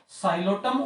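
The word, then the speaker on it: Psilotum: T silent है इसमें, साइलोटम और मेसिप्टेरिस।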